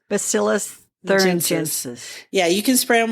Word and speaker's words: Bacillus thuringiensis: Bacillus thuringiensis. Bacillus thuringiensis.